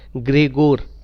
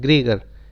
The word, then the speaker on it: Gregor: इनका सही नाम इसी तरीके से प्रोनाउंसिएट किया जाता है, ग्रेगोर। he was not a Gregor, he was ग्रेगोर Johan, not John, Johan Mendel.